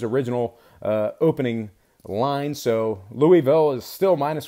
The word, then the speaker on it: Louisville: State at Louisville 8:00 tip off uh at Louisville I hate saying it like that I know